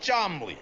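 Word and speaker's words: Cholmondeley: And this is my Uncle Chamandiali, pronounced Chomley.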